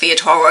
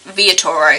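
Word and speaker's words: Villatoro: Toro pron it's spelled villain Toro but it's pronounced via Toro you're told throughout the um narrative the mispronunciation and the actual pronunciation via Toro he's investigated something that happened in La he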